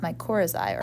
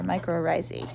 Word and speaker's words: mycorrhizae: relationship and this is called mycorrhizae or microarrizie i've heard it pronounced both ways these nitrogen-fixing bacteria live